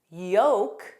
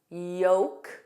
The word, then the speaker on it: yolk: Other common words are folk, folk, yolk, the center of an egg, yolk, salmon, salmon, Lincoln, kin, kin, Lincoln.